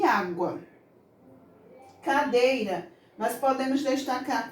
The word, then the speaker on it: água: ser o ovo também na palavra água nós iremos pronunciar a vogal com menos força com menos intensidade água praticamente o quase você não escuta o som da vogal u a não ser que eu leia a rua mas não é assim que nós vemos nem nem falamos água então o aqui por